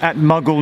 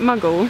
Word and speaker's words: Maghull: At Maghull North.